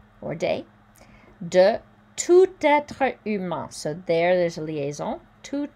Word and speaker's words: humain: De tout être humain. This is also nasal, so you hear it in your nose.